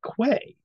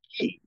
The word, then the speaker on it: quay: me because you know there there I always pronounced it as Quay it's not it's ke and that is egregiously mispronounced by many many